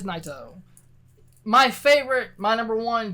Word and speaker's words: Naito: G1 we have tetsuya naito my or NATO however you want to pronounce it because English is hard it is naito my favorite my number